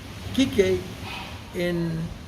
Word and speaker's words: Kiki: everybody yeah anybody who's in R it's either Kiki or Kik okay I didn't know that but Kik Kik in it's spelled k i ke yeah Kiki k i